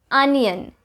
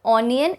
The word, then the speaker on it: onion: On number 10, I have the number 1 mispronounced word in India, onion. It is not onion, it's onion, onion, onion, kind of like minions, onion, not onion, onion.